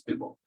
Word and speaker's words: dribble: If you say dribble, hindi siya masyadong tama kasi hindi naman ball yun. It's just BLE, so bo. So it's dribble. So don't say dribble, it's dribble.